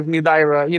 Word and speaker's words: Nudaira: It's the story of my life, Nudaira. It's spelled with the Spanish alphabet. That's why it's a little difficult to pronounce.